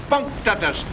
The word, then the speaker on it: punctus: Octopus punctus. Accent on the punk.